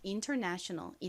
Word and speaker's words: international: 이 단어에서 가장 강한 강세가 어디에 온다고요? 이 네 부분에 옵니다. 그래서 international 이렇게 발음을 해주셔야 됩니다. 요건 좀 발음 연습 같이 해볼게요. international 다시 해볼게요. 네 부분을 강조해주세요.